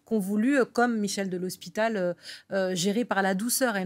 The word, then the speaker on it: de l'Hospital: prononce correctement, avec Michel, je ne sais pas si on dit de l'Hospital ou de l'Hôpital. Michel de l'Hospital.